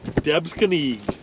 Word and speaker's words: Debsconeag: all smalls today so max what's the proper pronunciation for this lake we are on third devs kenny yeah there was he just bolted out yep debs kenny an absolutely beautiful lake